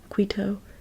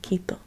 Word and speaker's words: Quito: the capital of Ecuador Kito or Quito Quito or Kito English pronunciation Quito Spanish pronun pronunciation Kito now below below Ecuador